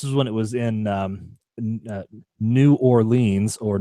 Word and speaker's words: New Orleans: years ago this is when it was in New Orleans or nawlins depending on how you say it so okay